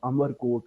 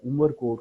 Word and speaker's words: अमरकोट: गया वहां एक जगह अमरकोट है जिसको आजकल मिस प्रोनाउंस किया जाता है उमर कोट कहा जाता है वहां पर अकबर पैदा